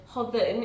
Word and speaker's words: Hodan: to pronounce my name because the D in English is a little bit different to the alphabet in my language. So the Hodan, it's a mix between a D and a TH.